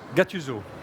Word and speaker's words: Gattuso: What's the right name to pronounce? GATTUSO.